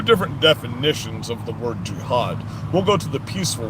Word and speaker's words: jihad: The way you pronounce these words, it's Hezbollah, Hezbollah, and it's jihad, J-I, not jihad.